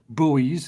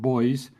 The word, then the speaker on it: buoys: ships um sail or buoys as you Americans like to call them. I would pronounce it boys.